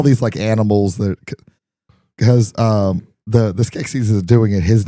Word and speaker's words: Skeksis: And if you didn't need any more foreshadowing on the connection between the two mystics and the Skeksis, You said it right that time.